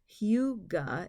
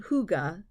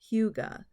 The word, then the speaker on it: Hygge: Now, Hygge, or actually it's pronounced Hygge, H-U-E-G-U-H, and it's not Hygge like hookah, it's Hygge.